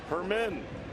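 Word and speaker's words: Germán: in colerain avenue gonzalez hermann the g is pronounced as an h right-hander coming on he's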